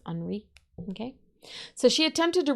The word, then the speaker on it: Henri: It sounds weird because I'm saying Henri instead of Henry because it's the French pronunciation. It's got the little I on the end, so it's Henri.